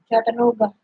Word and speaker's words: Chattanooga: Howdy from Chattanooga. Here, can you say that? Chattanooga. What? Chattanooga. Well, you heard me say it first. You said Chattanooga. I said Chattanooga. Chattanooga. You said Chattanooga.